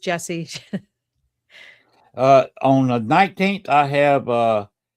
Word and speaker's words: Jessiy: It's IY, but it's pronounced Jesse.